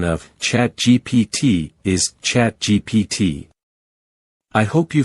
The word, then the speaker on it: ChatGPT: GPT is pronounced with the letters spelled out, GPT.